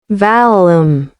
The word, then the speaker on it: Valum: On an unrelated note, is it pronounced Valum or Veilum? Hold on, let me check. Valum.